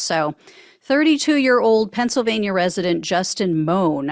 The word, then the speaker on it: Mohn: 32-year-old Pennsylvania resident Justin moan I think is how you pronounce it m or moan m o h n is how it's spelled um he has been